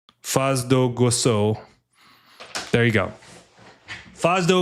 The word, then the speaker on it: Foz do Iguaçu: Faz do Igucia? Let me see here. Faz do pronunciation, because I am absolutely not cultured.